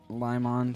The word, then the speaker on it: Limon: Limon sounded weird when he said it. That's how it's pronounced.